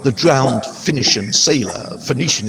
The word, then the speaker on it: Phoenician: drowned finnish and sailor phoenician is the more usual pronunciation but elliot finishing and